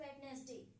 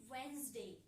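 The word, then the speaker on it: Wednesday: So that is वेडनेसडे। ऐसे ही बोलते हैं सभी। But this is wrong. Pronunciation कैसी होगी इसकी? वेडनेसडे। कैसे होगी? वेडनेसडे। इसमें क्या है? यह सब क्या है? अपने साइलेंट रहेंगे।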